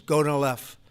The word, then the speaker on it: Gonal-F: So it's Gonal-F. Is that a proper pronunciation? Very Close well enough, done.